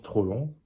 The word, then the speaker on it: Troplong: a été complété par tropon qu'on prononce tropon comme les deux mot mais collé et euh il y